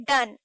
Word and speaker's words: done: उसी तरह पोएट पूछ रहे हैं डन, DONE डन, GONE गॉन गॉन, और वहीं पे LONE लोन। तो इन सब के वर्ड्स भी लास्ट के सेम ही है, लेटर सेम है, अल्फाबेट सेम है, लेकिन फिर भी इन तीनों का प्रोनाउंसिएशन जो है वो बिल्कुल अलग है।